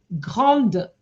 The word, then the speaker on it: grandes: Okay, grandes vacances. I didn't hear the E there. When you have an E, you have to pronounce the D.